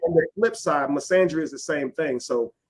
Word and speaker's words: misandry: misandry. Yeah. That's how you pronounce it, misandry.